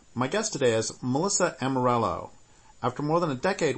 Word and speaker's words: Amarello: last name correctly yeah a lot of people want to pronounce it like I'm gonna REO like it's Spanish but yet we're from Kentucky so it's Amarillo okay hi I'm